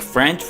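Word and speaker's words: faux: फा दोस्तों ये एक फ्रेंच वर्ड है तो इसकी प्रोनाउंसिएशन थोड़ी अलग सी होगी। इसको हम पढ़ेंगे फा जिसका मतलब है जाली बनावटी।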